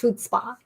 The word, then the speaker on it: chutzpah: That's pronounced chutzpah.